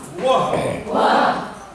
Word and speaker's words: वो: है, बोलिए वो, वो, ये दंतोष्ठ, इसका उच्चारण स्थान दंतोष्ठ है। और ये वो यानी ओष्ठ से केवल है, ओष्ठ से जीवा सटती है। वो, होंठ को ऐसे करिए, छोड़िए, वो, तब जाके वो होगा।